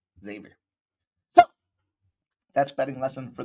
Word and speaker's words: Xavier: says X Xavier no Xavier Xavier the x is like a z x to the Z and I think Xavier